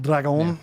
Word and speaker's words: Dragon: El Dragon. I screwed the pronunciation up, so that's the correction. I want to make sure we get it right. Dragon.